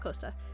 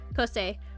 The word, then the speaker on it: Coste: um black cos a that's how you say her name not costa coste on um kofi um